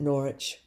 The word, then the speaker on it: Norwich: Um, chapter 32, Julian of Norwich or Nor I think Norwich. I think they don't pronounce the W too much in England on that. Norwich, but um, she was born in 1342 and died after 1416.